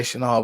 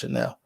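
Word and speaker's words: Chenal: chanel channel it is you want to say chanal but it's pronounced chanel he's just too big like and he has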